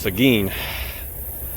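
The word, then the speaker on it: Seguin: I thought this was Seuin. No, it's Sagin. I was wrong.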